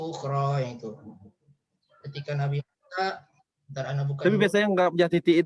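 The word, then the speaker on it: موسى: Yang memang bacanya Musa, tidak ada Musaya, Musayu, Musayi, gitu ya.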